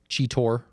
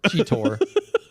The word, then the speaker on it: Cheetor: Cheetor. What? That's how you say it. And then there's a bunch of You're a other cheater. ones. Cheetor.